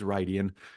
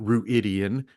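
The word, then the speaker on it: Rhuidean: keep mispronouncing because I went back to the pronunciation guide. It is Rydian. It is not Ruidian, which is how I pronounced it till I had the pronunciation guide.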